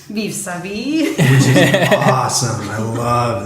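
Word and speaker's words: Vivre sa vie: Our first Godard was Her Life to Live, which the French pronunciation is... Vive sa vie.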